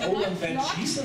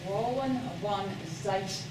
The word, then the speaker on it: Roeland van Zeijst: Is it Roeland Van Zeijst or something? Not quite now. It's an American who's trying to be phonetically close. Roeland van Zeijst.